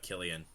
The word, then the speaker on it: Cillian: I think it's Killian. It's weird because it's C-I, and usually that's...